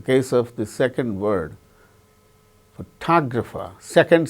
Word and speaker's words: photographer: In the case of the word examine, second syllable gains stress.